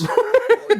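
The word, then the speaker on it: Gnorm: Norm. Yo, fuck. And Norm is spelled G-N-O-R-M.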